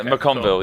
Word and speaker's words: MacConville: you nailed it we can't do it yeah mcconville yeah yeah normally people i've been called